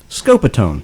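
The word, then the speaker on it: Scopitone: audience uh it's c it's s-c-o-p-i-t-o-n-e pronounced again scopiton scope-a-tone yeah and it was it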